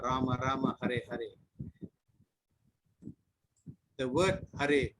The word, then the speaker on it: Hare: The word Hare pronounced as Hare, Krishna pronounced as Krishna, and Rama rhymes with Dharma are Sanskrit words.